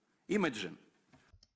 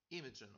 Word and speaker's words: imagine: Imagine. imagine, ударение.